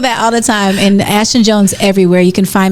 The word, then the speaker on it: Ashthon: But ASHTHON, the second H is silent.